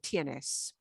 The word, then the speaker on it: tiene: off the end of tienes and it becomes tna yeah no silent e at the end now those english rules throw them out tns tiene tiene tango yeah okay